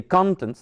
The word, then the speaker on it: contents: So, by the way, we say contents, the stress on the first one because it's a noun, you know, so that the bite is gone and in just one bite.